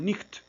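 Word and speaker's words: Nietzsche: Uno de ellos, de los principales, fue Federico Nietzsch. Bueno, en alemán se debe pronunciar algo así como Nicht.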